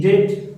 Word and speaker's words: debt: आज इनकी स्पेलिंग क्या है, DEDT, डेट, और इसकी DOUBT, इसको बोलते हैं डाउट वापिस। अब इसमें बी साइलेंट है, इसमें भी बी साइलेंट है।